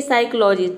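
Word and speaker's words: psychology: रहेगा जैसे कि देखिए साइकोलॉजी पी का प्रोनंसिएशन होता है प लेकिन साइकोलॉजी में देखिए प कहीं पे भी नहीं आ रहा है यानी कि हम प प्रोनाउंस नहीं कर रहे हैं इसका मतलब होता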